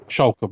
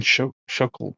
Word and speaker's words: Shulker: Shulker box. There we go. I almost keep saying shuckle box cuz it's me fucking stutter.